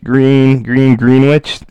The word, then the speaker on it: Greenwich: This is SS 28 in Greenwich, Greenwich. You learn how to spell it.